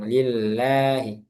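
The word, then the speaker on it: لِلَّهِ: Lafaz di lafaz jal Allah itu meskipun enggak ada alif di sini, dia tetap dibaca panjang lillahi.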